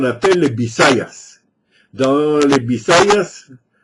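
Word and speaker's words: Visayas: Dans les Bisayas, je dis un B, mais ça s'écrit avec un V, mais les Philippins comme les Espagnols ne font pas de différence entre le B et le V.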